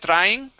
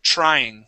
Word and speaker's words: trying: okay here you said tring okay we want to pronounce a CH sound at the beginning of the word okay so instead of a a TR think of a CH HR TR trying try that trying trying